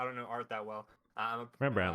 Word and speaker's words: Rembrandt: Rembrandt, like the toothpaste.